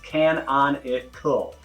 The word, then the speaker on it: canonical: That's one word, 4 syllables, canonical.